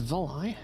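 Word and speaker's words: Volii: So apparently it's pronounced Voli.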